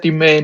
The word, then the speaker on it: Demesne: Uh, I think I played chorus when and she said domain and I said what? We don't have this card in here in this kingdom. yeah, it's spelled like Demesne.